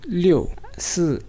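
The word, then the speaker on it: 六: remember this color yes six six is again four tone leo and leo they both are fourth tone is there any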